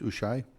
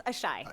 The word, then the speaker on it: Ashai: Ms. Ushai? Am I pronouncing your last name right? No, it's Ashai.